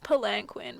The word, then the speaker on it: palanquin: It's spelled palanquin, but let's listen.